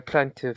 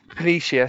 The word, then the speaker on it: Planitia: Now, I know that the shipbuilding infrastructure was kind of dealt a crippling blow when they attacked the Utopia Plantive. Is that how you say it? Planitia, sorry, thank you.